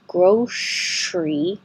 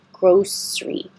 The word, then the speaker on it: grocery: This word you can say with first of all, drop that E so it's not 3 syllables, grocery. Make it 2 syllables. And then you have the option of saying grocery with a sh, or keep the S sound, grocery. Both are fine.